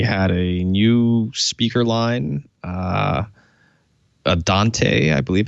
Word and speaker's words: Adante: He had a new speaker line Adante, I believe it's pronounced. Adante, yes.